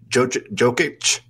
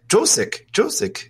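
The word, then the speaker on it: Jokić: And so then I mentioned a Denver Nuggets player, Jokic. I think that's right. Yeah. And I said it wrong. And they're like, who are you talking about? I was like, Josic, the guy from the Nuggets.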